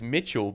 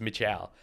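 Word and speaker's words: Mitchal: why it's and yeah my middle name is Mitchell but it's spelled m-i-t-c-h-a-l which is just a not how to spell it's it's Mitchell and that's like I'm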